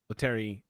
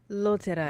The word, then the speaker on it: Loterai: Loteri, did I pronounce that correct, Eliza? Loteri? Loterai. Loterai. Gin Loterai.